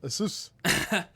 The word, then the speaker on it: Asus: Asus.